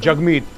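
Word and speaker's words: Jagmeet: सबूत ओ पहली चीज जगमीत यू नो इ प्रोनाउंस जग एंड राइम वि हग जय हि दोस्तों मैं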